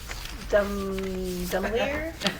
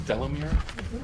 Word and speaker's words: Delamere: Dumelier? Sounds like chandelier. Dumelier? How do you say it? I think it's Delamere. Delamere? Yes.